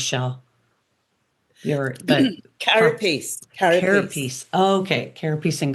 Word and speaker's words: carapace: part Carapace.